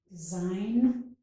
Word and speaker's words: design: In design, we do not pronounce the G, design.